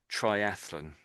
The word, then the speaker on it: triathlon: So, it normally gets pronounced in in the English way in English as triathlon.